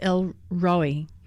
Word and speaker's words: El Roi: And my favorite one so far is, in Hebrew, it's pronounced El Roi, and it means the God who sees me.